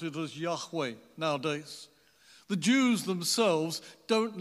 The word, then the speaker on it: Yahweh: revealed name of the god of Israel we pronounce it as Yahweh nowadays the Jews themselves don't like to express